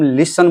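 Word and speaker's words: listen: ये इसको हम लिसन बोलते हैं। इसमें जो है टी जो है साइलेंट होता है।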